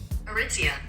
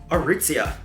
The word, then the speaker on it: Aritzia: How do we pronounce the name? Aritzia. Aritzia.